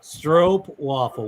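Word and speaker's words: stroopwafel: pronounce it STW bavel stro waffle with a with a long o a stro waffle what's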